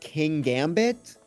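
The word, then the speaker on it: Kingambit: I I think it is like a king because it's like a pawn, a a bishop and a king, but gambit is like the main part of the word which is also a chess term. So I think it's king gambit.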